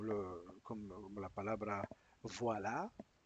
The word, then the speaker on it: voilà: como como la palabra voila. se pronuncia fonéticamente wa.